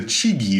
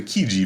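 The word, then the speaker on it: Chigi: out there takes italian or whatever but the pronunciation is kind of weird you'd think it's the cheeky vase but it's actually the kiji vase because it's italian and it belonged to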